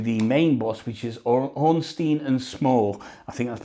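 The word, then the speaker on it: Ornstein: to get to the main boss which is orstein and small I think that's pronounced correct so here we go it's onstein and small that's these guys here uh and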